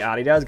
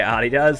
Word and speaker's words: Adidas: That's the correct pronunciation of it is Adidas cuz it's German. Um, but it's funny that Adidas seems to be like,